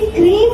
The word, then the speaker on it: crème: CREME को बोलते हैं क्रेम. क्रेम बनता है वेजिटेबल ऑयल से. जब भी आप किसी भी क्रीम वाले बिस्किट को क्रीम वाला बोलते हो तो वो गलत है.